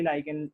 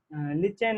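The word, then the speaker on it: lichen: लिचेन के बारे में, लिचेन नहीं लाइकेन होता है सही शब्द, प्रोनाउंसिएशन लिचेन नहीं पढ़ सकते इसको, अंग्रेजी की खूबसूरती है ये।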